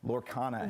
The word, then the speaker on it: Lorcana: Lorcana.